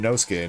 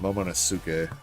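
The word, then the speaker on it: Momonosuke: It's Moske, not Momosuk.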